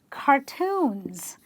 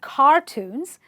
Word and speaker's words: cartoons: They are cartoons. They're not cartoons, they're cartoons.